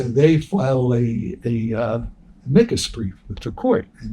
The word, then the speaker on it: amicus: wanted to submit a micas brief. I do believe that's the proper Latin pronunciation, not amicus. Mikas.